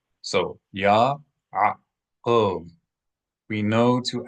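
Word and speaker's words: יעקב: So Yaakov. We know to accent the first syllable because there is a mether, a little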